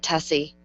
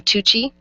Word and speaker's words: Tuccy: something just tell her that's not how you pronounce tussy and she'll offer you alternatives she'll never get it she'll never get tessie nobody does nobody does